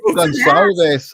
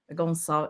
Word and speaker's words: Gonçalves: Gonçalves. Oh, I meant to ask. I usually ask, am I pronouncing it right?